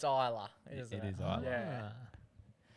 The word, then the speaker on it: Ajla: Try and pronounce that one. Ajla. Ajla. It's Isla.